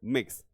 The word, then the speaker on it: Mx: जाने वाला वर्ल्ड है इट इस pronounced like D world मिक्स ये मिक्स के रूप में प्रोनाउंस किया जाता है यानी एमएक्स को मिक्स पढ़ेंगे यहां पे साथियों ठीक